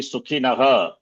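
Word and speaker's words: सुखिनः: Some are chanting Sukhinah, not Sukhinaha. Not Sukhinah. Should be Sukhinaha. Visarga should be pronounced.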